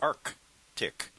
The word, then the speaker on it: Arctic: a r TI C because you say Arctic but it's really Arc tick so it's a RC